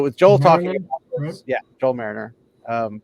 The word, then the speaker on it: Merringer: Joel talking yeah Joel Mariner um just not the way you think it's spelled but um it's like marrier is more like it um but essentially